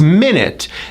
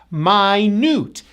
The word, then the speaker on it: minute: this next word is minute notice the first syllable is stressed minute like I will